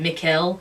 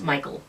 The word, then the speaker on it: Mikel: I was pronouncing it Mikuel and it's Michael.